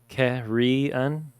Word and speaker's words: carrion: side to the other it's pronounced kerry anne carrion carrie and carrion according to google that was driving me